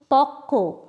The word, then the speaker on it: পক্ক: পক্ক, প কয় বফলা। এগুলোর সব ক্ষেত্রেই বফলার ব উচ্চারিত হয়নি, কিন্তু তার আগের ব্যঞ্জনটি দ্বিত্ব উচ্চারণ হয়েছে।